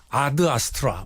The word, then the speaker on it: Ad Astra: 것 같은데 그렇게 짜인 어 에서 a 를 점만 4 애로 발음 하겠어요 아드 아스트라 일텐데 일단 미쿡 영화이기 때문에 미국 친구들을 암투 이거 4 무조건 애도 발음 하니까 그래서 l 아스트라 로 국내에서도 개봉 하구요 예